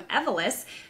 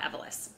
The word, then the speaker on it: Evolis: I'm Lindsay Martin-Nez from Badge Pass, and today we have JC Pichon from Evolis joining us.